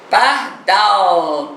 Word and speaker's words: pardal: esqueci a terceira palavra pardal pardal chama tá dó você não sabe que demorou mais um pouquinho no down down é a sílaba é a última sílaba é a sílaba tônica da palavra pardal se eu fosse classificar